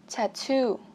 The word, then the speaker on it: tattoo: 18, tattoo, tattoo là xăm, tattoo. Đây các bạn thấy hình xăm đây, tattoo, cho âm 2 cho mình, tattoo, tattoo.